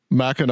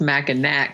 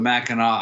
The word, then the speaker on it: Mackinac: looking at it and it looks like it should be pronounced mack and nack because it has a